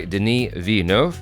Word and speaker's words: Denis Villeneuve: non-spoiler discussion for Dune part two directed by Deni V did I say it wrong no you didn't